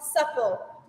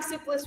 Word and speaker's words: Supple: Sleepless system is called supple it's not pronouncing soupless wrong it's called Supple so we're going to